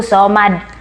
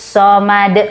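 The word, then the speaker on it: الصمد: ketika ayat kedua ya kebanyakan membacanya allohu so much seharusnya membacanya allohu Somad masukkan dulu karena ini ada tasydid ya allohu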